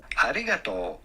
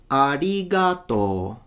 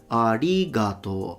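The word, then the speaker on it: ありがとう: So he says, arigato. So he stays high until ga and then goes down in to. But people in Japan, in Tokyo, should I say, they say arigato, arigato, arigato. So ga is already low.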